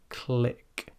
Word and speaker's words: click: to keep them stationary try the word click click and as I mentioned there pronounce it very slowly and try to exaggerate it it should not sound like Creek but kilala lick you